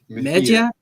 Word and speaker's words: Mejia: I don't know how to pronounce his name. Brennan Mejia.